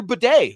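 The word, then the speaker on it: Tyler Badie: But the leading rusher for the Denver Broncos, tied between 2 guys, some guy named Bo Nix, and then Tyler Bidet, who I've been pronouncing his name wrong this whole damn time.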